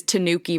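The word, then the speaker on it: Tanooki: saying they have like the official pronunciation for it is Tanuki Mario I don't know why but that is what they say like they spell it with like two o's too because they're like nobody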